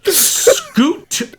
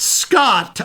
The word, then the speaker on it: Scoot: I'm going to have Scoot McNairy. Not Scott. I am not mispronouncing. His name is Scoot.